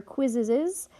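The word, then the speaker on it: Quizizz: You're going to get the questions from your quizzes. That's how they say it. It has Q-U-I-Z-I-Z-Z.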